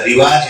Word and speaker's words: رواج: انجمن ہے، انجمن نہیں ہے، بفتح الجیم نہیں، بضم الجیم ہے. عام طور پر لوگ غلط بولتے ہیں، جیسے رواج بول دیتے ہیں. ہمارے بچے نے بھی رواج بولا تھا، رواج ہے رواج نہیں.